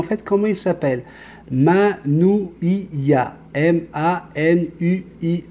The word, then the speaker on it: Manuia: M-A-N-U-I-A. Mais le U se prononce en OU. Ça donne Manuia.